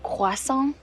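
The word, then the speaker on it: croissant: got back from Europe it's actually pronounced quason I was just in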